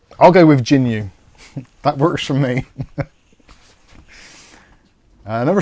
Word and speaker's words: Jginyue: okay so it's pronounced Jin jinu Rising Accent on the E okay I get I get the general idea we'll just say it's I'll go with jinu that works for me